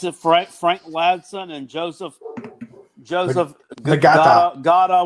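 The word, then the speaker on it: Ngata: But everybody says that Justin Ross, what's it, Frank Ladson and Joseph Gata with a silent N is going to be just fine.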